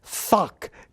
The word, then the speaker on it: thock: read it aloud, that people mishear the first syllable, which gets repeated through the poem. Mm-hmm. So if I read it, I have to specify that the word is thock, T-H-O-C-K.